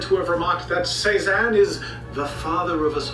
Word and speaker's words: Cézanne: Cézanne, that's how you pronounce it.